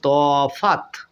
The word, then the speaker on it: তফাত: শব্দটা আমি উদাহরণ নিলাম তফাত দেখুন তফাত তফাত শব্দটি বানান করতে শেষে তয় কিন্তু অ সাউন্ড আসলো না আর এই অ বাদ